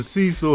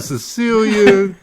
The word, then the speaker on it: Cecil: It's the Cecil Hotel. Hotel Cecil. Y'all been Cecilia, Cornelius, Cicely Tyson.